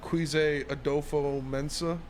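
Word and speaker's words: Kwesi Adofo-Mensah: Quise Adolfo Mensa.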